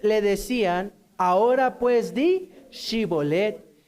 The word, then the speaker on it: Shibolet: Entonces le decían, ahora pues di Shibolet. Y él decía Sibolet, porque no podía pronunciarlo correctamente.